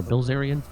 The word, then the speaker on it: Bilzerian: Bilzerian or Bilzarian?